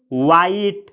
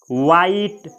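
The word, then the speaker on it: white: जैसे वाइट। वाइट, वाइट यानी उजला। तो इसमें जो WH है यहाँ पे इसका उच्चारण व होगा।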